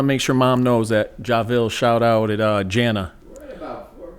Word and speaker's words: Javil: And then most people pronounce it Javil, but it's actually Ja. Javil.